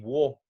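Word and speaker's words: を: to mark an object if you pronounce this sushi war tab in US you will be completely understood in fact you would sound like a very old-fashioned Japanese person but nowadays this is just pronounced or but we only use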